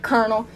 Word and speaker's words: colonel: In the word ocean, CE sounds like sh, and the word about, the OU sounds like ow, OW, and colonel, OLO, sounds like ER, colonel.